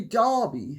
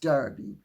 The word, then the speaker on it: Darby: And Audrey Darby says, or it may be if you're American, it's pronounced Derby.